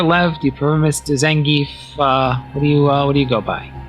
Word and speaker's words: Zangief: Oh, That is, am I pronouncing that correct, Mr. Zangief? Yes, you did. Zangief. Zangief.